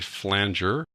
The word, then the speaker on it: flanger: Turn off chorus and turn on the flanger. It really is pronounced flanger, folks. Some people call it flanger, but it is flanger.